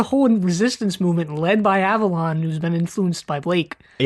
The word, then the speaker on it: Avalon: Avon is 2 syllables and Avalon is 3.